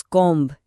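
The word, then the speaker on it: comb: जब भी बी हर्फ एम के बाद आए या फिर टी से पहले आए तो यह अक्सर खामोश रहता है। मिसाल के तौर पे लफ्ज कॉम्ब या थंब में देखें बी हर्फ एम के बाद आ रहा है। इसलिए हम इसे नहीं बोलते।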